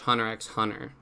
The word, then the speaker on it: Hunter x Hunter: of mine to watch Hunter x Hunter but I can't reveal what I'm doing I gotta you gotta know though man the x is silent oh no I see